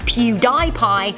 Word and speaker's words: PewDiePie: PewDiePie, apparently originally intended to be pronounced PewDiePie after his online gaming name, PewDie, and his love of pie, which, to be honest, I feel you on that last one, Felix.